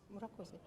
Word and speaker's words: Murakoze: Murakoze.